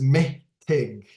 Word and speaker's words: mitig: Okay, next one is mitig. Mitig. So me and then tig. So that's how I spell it. This is the way I sound. I hear the syllables and me tig.